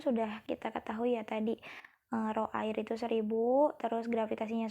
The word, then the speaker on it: rho: Nah, rumus dari tekanan zat cair itu seperti yang sudah pernah saya jelaskan adalah rho, ini dibacanya rho, dikali gravitasi, dikali kedalaman ikan berenang.